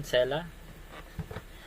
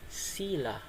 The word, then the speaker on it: Selah: sabihin so next Tayo cela ba ang tawag diyan cela Actually ang pronunciation diyan ay sila sila Sige ng practice